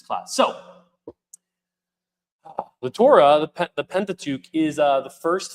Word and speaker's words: Pentateuch: So for the sake of notes, we will be talking about how do you pronounce it, Pastor Patrick? Pentateuch.